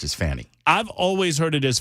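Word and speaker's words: Fani: fabulous at his job and Ken is saying fonny and so that's going to cause me to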